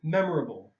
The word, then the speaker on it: memorable: Okay, so this one, mem or okay, so it's important that you don't do memorable. Like if this M was on this syllable, it'd be memorable. So you have to know where the syllables.